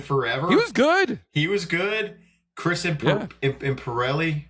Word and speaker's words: Imperioli: Chris Imperioli, right? Is that how you pronounce it? Imperioli, yeah.